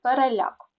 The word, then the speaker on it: переляк: першого префікс пере Так але перекис перепад на другу е буде наголос перепис але переляк так запам'ятайте перекис перепад